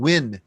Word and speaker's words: Nguyen: I always say Nguyen. Nguyen. Yeah. Nguyen. Without the N, Nguyen, right? And there's I think the dialects are different, north and south. In south, it's Nguyen.